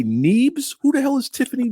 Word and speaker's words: Nieves: Nieves.